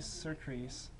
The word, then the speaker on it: surcease: To death's gloomy surcease.